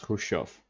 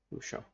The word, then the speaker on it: Khrushchev: I pronounce Khrushchev. H. Just a clean sound of H. Khrushchev.